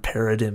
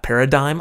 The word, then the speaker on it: paradigm: paradim here yeah work the word paradim in yeah Paradigm oh Paradigm that's the way you pronounce that my